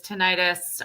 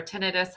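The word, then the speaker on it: tinnitus: head neck pain sinuses tenitis or tenidis however you want to pronounce it vertigo and all of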